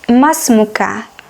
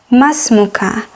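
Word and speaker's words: ما اسمكَ: in modern standard arabic mas moki mas moki to address a woman and masmuka masmuka to address a man ma is what ism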